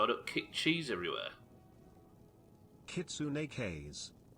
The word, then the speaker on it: kitsune: don't kick cheese everywhere kitsune there you go the one true way to pronounce it yeah that's true even